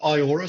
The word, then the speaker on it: eyeora: So, kind of like Rita Ora, but eyeora.